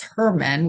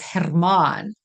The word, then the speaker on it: Herman: South African accent you you Trill the R so it's pronounced Hermon and um he was